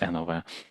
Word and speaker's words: NOW: So it's written now, and it's very hard to pronounce it not as now, NOW, or it's NOV. How do you pronounce it? NOV or N. And Yeah. then NOV, because it's a German company, so it's NOV.